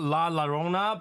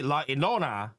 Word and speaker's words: La Llorona: I thought what La is called La Llorona, but I pronounced it completely wrong because afterward I was posting a short and which used the music. They call it La Ilona. So it's supposed to be La Ilona, not La Llorona.